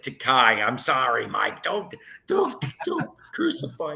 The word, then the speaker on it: Takei: And one of the ones, oh yes, I keep forgetting to pronounce it Takai.